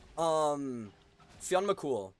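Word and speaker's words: Fionn mac Cumhaill: Fionn McCool, right? And cool is spelled like Cumhaill.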